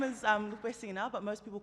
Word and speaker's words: Lupesina: So my name is Lupesina, but most people call me Lupe, and I